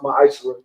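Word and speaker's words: מעשר: verse 8 through 10, means 10th in Hebrew, and is pronounced ma'ashra.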